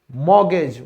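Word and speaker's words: mortgage: अब और कुछ शब्द हैं, एजमा, क्रिसमस, मॉर्गेज।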